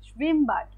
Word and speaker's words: Schwimmbad: Schwimmbad, Schwimmbad. Schwimmbad. বেড না আপু, বাড, বিএডি না, আ উচ্চারণ হবে।